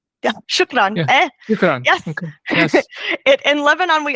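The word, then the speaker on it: شكراً: your commitment and is it uh am I pronouncing this correctly uh shukron shukran yes yes in Lebanon we also very much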